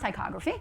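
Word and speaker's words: ptychography: So it's pronounced tychography.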